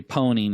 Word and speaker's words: pwning: And so it's become a joke in the industry that we pronounce it, or we say pwning instead of owning a system.